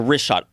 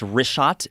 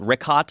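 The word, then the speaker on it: Richat: Yeah, the wrist shot, R-I-C-H-A-T. It's worth mentioning that. Got it already here. Yeah, in the first couple, I just want to say it's wrist shot. I used to call it Rickot.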